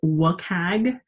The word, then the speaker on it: WCAG: Those accessibility geeks, of which I'm one, often will pronounce this WCAG. We're really just trying to pronounce WCAG as a word.